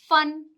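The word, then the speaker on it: phone: ठीक है, जैसे कि फन, फूड, फैमिली। ठीक है, एक यहाँ पे बात ध्यान रखिएगा कि जो पीएच होता है उसका भी जो प्रोनाउंसिएशन होता है वो क्या होता है? फ होता है।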